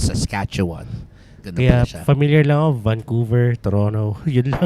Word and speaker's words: Saskatchewan: know that's a province in Canada British Columbia pronunciation it's a bit odd if you're not used to it okay so it's Saskatchewan yeah familiar love Vancouver Toronto other cities oh